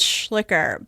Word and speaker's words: Schlicher: that is actually it's it's often pronounced as schlicker but it's a it's